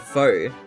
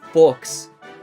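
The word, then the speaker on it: faux: who mispronounces the word foe. He says books and I'm like that X is silent man. That's a French word man. That's just it's just f.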